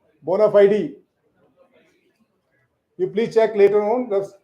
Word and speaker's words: bona fide: This is bona fide. Not bona fide. Bona fide.